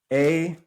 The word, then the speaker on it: Aita: It is spelled A-I-T-A.